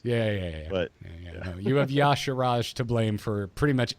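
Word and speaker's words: Y'Shaarj: how do you say, is it Yasarj? Is that how you say that? I have the pronunciation Okay. low down. It's Yasharaj. Yasharaj. Yasharaj. It's got Ya- Shah what? in the middle.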